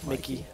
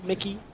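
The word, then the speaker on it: Mikyx: Mikey. Mickey. The X is silent, right? Uh, I believe so.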